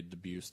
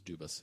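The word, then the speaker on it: Dubus: debuse III um and that's how I found out to pronounce his last name the correct way like that oh really uh because I thought it was dubis and it's not um he was he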